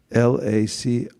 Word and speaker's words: LaCroix: look who said it lacroix how do you spell that l-a-c-r-o-i-x that's means lacroix anybody heard lacroix i'm not